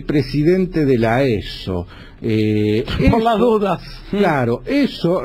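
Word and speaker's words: Esso: La de estadía de servicio, eso que vemos por todos lados, es el apócope de la sigla SO, Standard Oil, ESO, así se pronunciaría.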